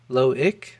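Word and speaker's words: Loïc: My name is pronounced Lo. Okay. Ick. Loick.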